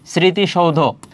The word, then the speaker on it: স্মৃতি: যদি আমরা এখানে লিখি স্মৃতি, স্মৃতিসৌধ, তাহলে এখানে খেয়াল করো স্মৃতি, এখানে উচ্চারণ যখন আমরা করছি ছ এর মতো উচ্চারণ হচ্ছে, যেমন স্মৃতি, ওই যে বলে না গাছের পাতা সবুজ, গাছের পাতা সবুজ, তাহলে দেখো এখানে ছ এর মতো উচ্চারণ হচ্ছে, সেক্ষেত্রে এখানে দন্তস্বয় থেকে যাবে।